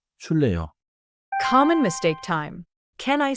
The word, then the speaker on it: 줄래요: has the 받침 followed by another sound. So pronounce it smoothly as 줄래요?